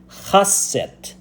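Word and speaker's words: ḫꜣst: The word foreign lands is pronounced, if you know you're Egyptian, it's pronounced chasset.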